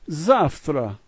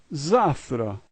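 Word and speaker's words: завтра: This is zavtra, zavtra. The first letter is ya, and it's pronounced ya.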